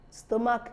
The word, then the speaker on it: stomach: we have the stomach stomach is a word a part of the body but we know that it ends with ch the H is not pronounced rather it ends with